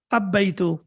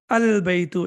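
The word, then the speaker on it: البيت: Al-baytu or ab-baytu? How should I pronounce it? Any idea? Al-baytu, excellent.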